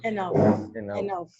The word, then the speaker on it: enough: Enough, Ajá. Como si fuera una F, enough.